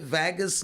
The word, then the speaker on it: Vagus: Vagus nerve. Yeah, Vegas nerve. Vegas nerve. Okay.